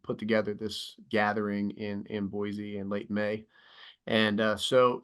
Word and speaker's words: Boise: You're saying Boise right. You did it. Hey, there is a little bit of your Eastern. The Z slips in at times, but you're close. Like you're really close to saying it right.